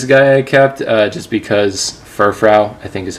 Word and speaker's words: Furfrou: cool card this guy I kept just because furfrou I think is how you pronounce it I used this Pokemon in my